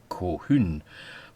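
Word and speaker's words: Colquhoun: Two, it may be a corruption of cahune, the common pronunciation of which is Cohun.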